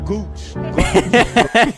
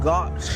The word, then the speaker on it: gauche: Gooch. That's definitely not how you pronounce it, though.